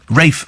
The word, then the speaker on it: Ralph: actor um ranol fines is it no it's not Ral F that's the rafe F they're called Rafe I remember thinking all right Rafe this room name is Ralph but it's it's pronounced Rafe perhaps I should think